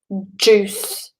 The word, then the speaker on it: juice: Juice. Juice should sort of shoot out of your mouth. Juice. Exactly. With like an S.